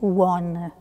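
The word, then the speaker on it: ὁ ὤν: début à la fin on prononce one le étant celui qui est c'est ce nom que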